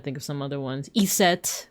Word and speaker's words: Iset: Iset, which is the Egyptian pronunciation or one a proposed Egyptian pronunciation for the name Isis.